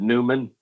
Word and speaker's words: Neman: pronounce it Newman.